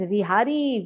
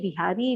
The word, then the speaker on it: Vihari: It is Vihari, Viharan karne wale. Bake Bihari, nahi Bake Bihari. V cannot be pronounced, that is why it becomes B.